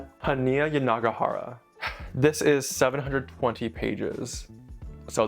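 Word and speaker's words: Yanagihara: And book number four is going to be A Little Life by Haneia Yani Gajara. I need to see if I'm pronouncing that correctly. Hia Yanagahara. Haneia Yanagahara.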